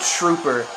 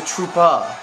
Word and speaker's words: Troopa: Like, Koopa Trooper. Even though on the thing it says Troopa. I'm like, he's not a trooper. He's not Steve. He's a turtle. He's a Troopa.